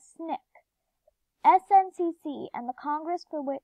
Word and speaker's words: SNCC: the end the SNCC which people pronounced as snick SNCC and the Congress